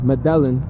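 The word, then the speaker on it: Medellín: Bogota and Cali and Medellin, or Medellin, if you spell it and pronounce it in an English way.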